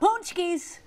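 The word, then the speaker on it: pączki: today we're talking about punchies Yep they're spelled not like that but they're pronounced like that it's all going to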